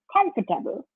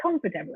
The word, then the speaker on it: comfortable: Comfortable. That's how I actually pronounce that word, comfortable, as opposed to comfortable.